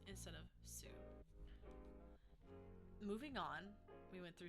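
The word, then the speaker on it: す: things like M this we drop the U in those scenarios in those typical sentence endings and I believe there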